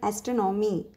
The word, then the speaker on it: astronomy: Here see when you hear that one means how the third syllable is stressing here, astronomy. Okay.